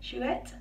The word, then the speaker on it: Chouette: So on my left wrist, that's this one here, Chouette. I don't know if you pronounce the T, I think you do actually, Chouette.